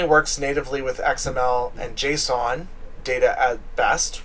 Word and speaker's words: JSON: It depends on how you say it. Some people say JSON, or some people say Jason, but it's not Jason. It's not a name, it's JSON.